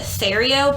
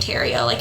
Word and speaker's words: Theriot: I think some of the videos pronounced it Theriot, but it's definitely Theriot. It's spelled, we're from Louisiana. We know what Theriot looks like. Yeah. I'm pretty sure it's Theriot.